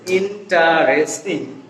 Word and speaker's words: interesting: Interesting.